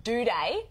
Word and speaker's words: Doedee: And that is, I actually think that Adelaide Crow, Tom Doedee, that's how you pronounce it, by the way, just in case you didn't know.